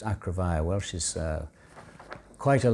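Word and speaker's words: Acrefair: mother came from called acrovaya which is a-c-r-e-f-a-i-r with a funny spelling like acre fair but pronounced acrovia well she's uh quite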